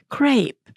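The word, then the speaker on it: crêpe: I've asked my friends, how do we pronounce that word? And they told me crepe. And the gentleman said, well, I don't care. This is how we say it, and it's crap.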